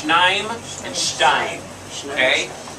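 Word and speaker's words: שניים: No, there's a shva there. It all gets pronounced together. Shnaim.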